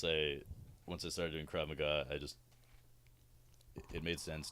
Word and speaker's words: Krav Maga: you take and teach Krav Maga and again idiot for a long time I pronounced crave mega I have in my